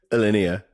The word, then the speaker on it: Alinea: What's the best way of pronouncing it? Alinea, yeah. Alinea Nutrition.